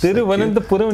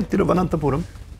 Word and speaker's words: Thiruvananthapuram: Thiruvananthapuram, you pronounced it bang on without saying Trivandrum and going with the anglicized version. No, Thiruvananthapuram.